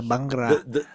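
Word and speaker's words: bhangra: Hell yeah, the The Bangra.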